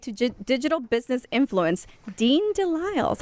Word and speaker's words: DeLisle: He said don't pronounce the L, but it's like Lyles. And guess what? She got it. No, don't pronounce the S.